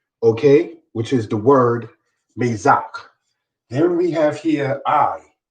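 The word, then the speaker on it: מצח: The Hebrew word for forehead is the word mezak. The word mezak, spelled with men, zade, and chet, brothers and sisters, is how one says forehead in Hebrew.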